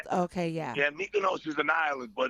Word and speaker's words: Mykonos: Myokonos? Is that how you Mykonos.